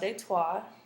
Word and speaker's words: Detroit: posts and New France Detroit's name is actually French and it's pronounced de tois and in the 20th